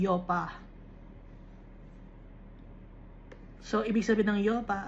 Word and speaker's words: Joppa: Kaya nga, diba, pero wala noon na letter J. Bago lang na-invent ang letter J. So, ang Joppa, ang pagpo-pronounce sa Hebrew ay Yopa.